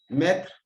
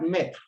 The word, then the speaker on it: maître: Let's look at maître. There's accent on the E does not change the sound. It's the E together with the A that gives the sound E.